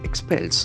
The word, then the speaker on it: expel: that meeting then comes expels the first verb of the day expels a beautiful word it expel expel it's made up of two syllables and x and falls in the second syllable X pillar expel expel